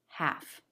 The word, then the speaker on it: half: When you see the L, it's always the L sound, except for a few cases where the L is silent, like in these words, would, walk, half. There are no other letters that make the L sound.